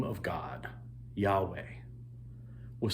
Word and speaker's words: Yahweh: In ancient Hebrew, the name of God, Yahweh, was spelled without vowels. Now, I knew that part, but the consonants, YHWH, when pronounced correctly, don't allow you to close your mouth or use your lips.